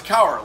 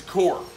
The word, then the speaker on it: Kaur: back up here like i thought it was coward like sour like but it's core k-a-u-r-9 and it's concealment